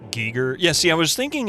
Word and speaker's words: Giger: It's pronounced Giger.